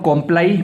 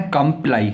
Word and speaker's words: comply: इसको बहुत सारे लोग कॉम्प्लाई पढ़ते हैं या कॉम्प्ली पढ़ते हैं, तो इसका जो सही उच्चारण है कंप्लाई, COMPLY, कंप्लाई।